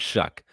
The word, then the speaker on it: Shough: Tyler shuck show and what's that show no it's not that's not shuck it's spelled show but yeah anyway now it's shuck I believe and he's